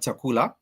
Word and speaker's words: chakula: has it has La these are the three syllables in this word chakula and therefore the way it's written it sounds the way you pronounce it is almost just as direct as it is written only what the only